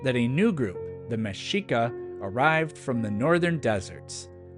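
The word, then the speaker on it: Mexica: and Aran Cortez also these words are not pronounced meika or Tex Coco but rather mesika and Tesh coko some of these words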